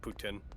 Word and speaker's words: poutine: protein yeah it's food p o u t i n e poutin yeah no that's that's actually food yeah if it helps you with the the not protein joke it's technically pronounced Putin yep ptin Putin ptin